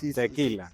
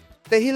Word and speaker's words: Tehillah: Tequila, tequila. Tequila, tejilla. Y bueno, no saben al principio pronunciar. Tegil es una palabra en hebreo, traduce alabanza pública a Jesucristo.